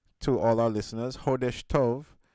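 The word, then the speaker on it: Chodesh Tov: So, I want to say heshtov to all our listeners. Heshtove, which is spelled c h o d e s h. Hesh which means month and to which means good.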